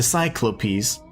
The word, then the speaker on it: cyclopes: Like the cycl the cyclopes. That's how you say it. You know, plural.